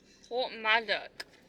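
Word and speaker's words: Porthmadog: Port Port M dog it's called P madok Port madok it it's spelled p madok or madok I see anyway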